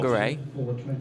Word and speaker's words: Whangarei: Anything WH is an F. It got me. I was chuckling away for the first 3 months I was out there. Whakatane and Well, Whangarei.